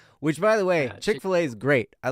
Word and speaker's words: Chick-fil-A: It's Chick Fil A. Yeah, right? Chick-fil-A. But that's You know, not as a kid, spelt I right thought it though. was Chick fillet, Fil A but is spelled FIL apostrophe A.